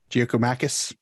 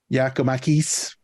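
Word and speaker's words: Giakoumakis: gonna go with uh uh uh Jack gumanis giokomacus that's not what the pronunciation guide says it says yakomakis uh sure I don't care write me um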